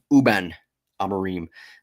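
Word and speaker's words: Rúben Amorim: It's uh I just learned that the R is silent for, you know, Reuben and uh Amarim. Uben Amarim.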